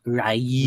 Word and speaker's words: Ryu: MF is pronounced Rayu.